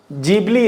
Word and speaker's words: Ghibli: जो गिबली images है, गिबली बोलो या जीबली बोलो, तो इसका मेनली प्रोनाउंसिएशन जो है वो जीबली है या गिबली बोल सकते हो, गिबली इमेजेस।